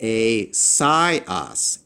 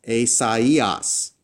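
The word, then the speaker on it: Ησαΐας: But with the two dots-- what that does is, it tells the reader, hey, don't pronounce this as a normal diphthong. Pronounce these letters as if they're separate and individual. So in this case, I would pronounce this not as Ησαιας "ay-sai-as," but instead as Ησαϊας "ay-sa-ee-us."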